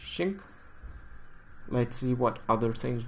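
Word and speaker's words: Qing: It's spelled with a Q, but I think the pronunciation is Xing.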